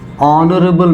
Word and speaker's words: honorable: example and our n honorable man now look at this when I say our I am not pronouncing this H it is silent when I'm saying an